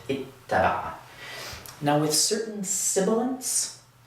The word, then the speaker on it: اتّبع: we do this, where again, we double the ta, we add a shadda above it, and wind up with ittaba'a.